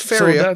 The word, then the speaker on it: Faeria: but I've been playing Faeria. That's how I would pronounce this in French. Pretty similar in English. Faeria.